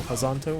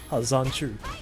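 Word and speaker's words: Hazanshu: Sideboard getting upset in the chat because you're calling Chun-Li's second V skill Hazanto when it's Hazanchu.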